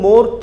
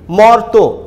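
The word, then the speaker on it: মর্ত্য: একইভাবে মর্ত, আমরা কিন্তু মর্ত বলি না, আমরা বলি মর্ত, রেপ মানে র, আমরা যুক্ত ব্যঞ্জনকে ভেঙে দিলাম মর তো।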